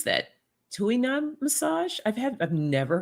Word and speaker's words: Tui Na: kind of Massage a two how do you pronounce that Tui Nam massage I've had I've never heard of that